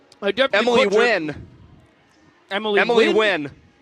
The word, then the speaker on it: Nguyen: Emily Nguyen. Emily Nguyen. I definitely Emily Wynn. Emily Wynn. You think that's how that's pronounced? Yes. Emily Wynn. It looks like Nguyen. It's pronounced Wynn.